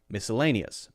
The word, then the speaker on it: miscellaneous: the schwas sound and this one is very clearly the stressed syllable so miscellaneous miscellanous miscellaneous miscellaneous okay